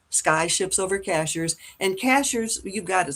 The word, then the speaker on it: Cashiers: And so, just go to sky ships over cashiers and cashers. You've got it spelled out there for people, but cashers is spelled just like a cashier at the grocery store, right?